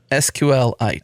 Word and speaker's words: SQLite: official way like meteorite he actually named it after meteorite so it's like see uh say it Adam sqlite sqlite like it's just a lot of syllables like meteorite yeah T man I